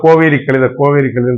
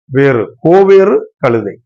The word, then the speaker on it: கோவேறு கழுதை: நம்ம இதில் கோவேரி கழுதைன்னு சொல்லுவாங்க. When I was small boy, that time also I told like that. So actual Tamil pronunciation, the mule, கோவேறு கழுதை.